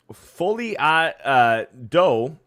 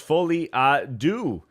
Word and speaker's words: folie à deux: Folie à dos is pronounced folie à deux.